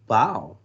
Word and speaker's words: bao: Bao like bao. He's telling you how to pronounce it. B-A-O sounds like B-O-W, bao. Not like bow on a kitty.